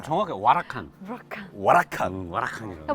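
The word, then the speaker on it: Huracán: 우선은 람보르기니 그 시리즈 중에 우라칸. 아. 이름도 세네요. 멋있죠. 발음 정확해. 와라칸.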